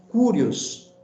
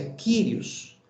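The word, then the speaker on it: κύριος: Essa palavra Senhor é a palavra Kyrios, que muitas vezes tem sido pronunciado pela palavra Curios, né? Mas a transliteração correta não é Curios, é Kyrios.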